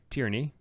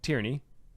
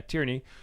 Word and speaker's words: Tierney: So Kendra is the author of Tyranny. Not Tyranny. Did I say it wrong? Tierney. Did I say, okay, yeah, Tierney.